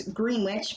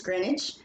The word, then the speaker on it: Greenwich: which place in England remember it's not pronounced the way it looks it looks like it's Greenwich but its Greenwich all right see the